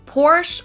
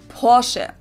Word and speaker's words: Porsche: I've heard Americans pronounce it Porsche or Porsche. In German, we say Porsche. So there is like this short A sound in the end.